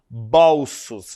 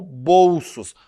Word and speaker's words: bolsos: Porque ela está cometendo uma pronúncia equivocada a respeito dessa palavra, porque essa palavra ela não é lida como bolsos, e sim como bolsos. Ou seja, o som do O ele é um som fechado.